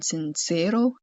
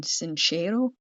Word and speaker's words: Sincero: Jen Sancho and we've been pronouncing the author's name wrong the entire time because I've been we've been saying Jen Sincero and it's Jen Sincerero.